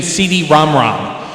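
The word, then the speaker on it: CD-ROM²: 2, which was actually it was supposed to be pronounced the PC Engine CD-ROM-ROM.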